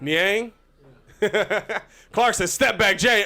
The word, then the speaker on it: Niang: Jordan Clarkson to Niang. However you say his name. Back to Clarkson. No, you actually got it right that time. Niang.